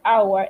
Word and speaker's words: hour: house and uncle but an hour the age in the beginning of the hour is silent at university the eu